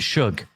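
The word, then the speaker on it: Shough: He pronounces it Shug.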